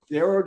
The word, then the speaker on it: Darroh: His name is, and his last name is Darrow. Am I getting that correct? That's exactly right. Darrow rhymes with arrow. Darrow does rhyme with arrow, and we are happy Hmm.